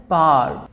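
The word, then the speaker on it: power: इसका जो right pronunciation होता है गाइस, आपने इस तरह से करना है, इसको बोलना है पावर, डब्ल्यू को साइलेंट कर दीजिए, पावर।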